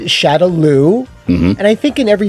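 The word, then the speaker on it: Shadaloo: can get one wrong that was Shadow law and even then I think that was just a mistranslation like it wasn't them purposely trying to mispronounce something the van Dan movie got it correct at least to me it shadowloo and I think in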